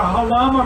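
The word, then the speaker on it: Jalama: Halama is spelled J-A-L-A-M-A, and it's the Spanish word that came closest to the sound of the Chumash village that was here when the Portola expedition came up the coast in 1769.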